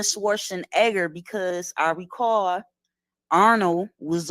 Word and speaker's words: Schwarzenegger: he was asked about his name Arnold Schwarzenegger and he say no no no no that's not how you pronounce it it's pronounced Arnold schwarzen Edgar specifically now he could